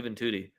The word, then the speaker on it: Juventude: How do you lose to Juventude? Their name literally rhymes with booty.